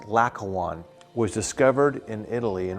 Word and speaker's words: Laocoön: This piece, known as the Laocoön Group, L-A-O-C-O-O-N, or L-A-O-C-O-O-N-E, Laocoön, or it's pronounced Laocoön, was discovered in Italy, in Rome, at 1506.